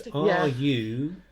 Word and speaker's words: Ruairi: We're like, there's a difference. It's Ruairi, apparently. Yeah, see, nailed it.